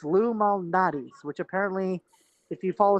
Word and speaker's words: Lou Malnati's: But I did get pizza from Lou Malnati's, and apparently I've been mispronouncing it as Lou Valnati's or something. I don't know where I got the V, but it's Lou Malnati's, which apparently, if you